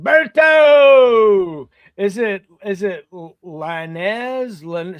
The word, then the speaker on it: Lainez: It's uh Lanz. Um it's been Americanized a little bit, but uh I think my my uh my sisters still pronounce it Lenez, but Linez. Okay. like Martinez, you know.